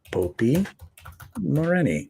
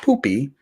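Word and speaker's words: Popy Moreni: how to spell that popi moreni Opie moreni not poopy poopy okay there we go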